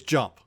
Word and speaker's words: dJomp: silent D is silent D is silent okay so everybody everybody who W all all like 12 of you that are going to watch this video just just forget that's even there it's just jump it's not there yep